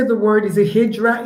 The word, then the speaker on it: hijra: It it it it is spelled with an R but pronounced with a D because the because the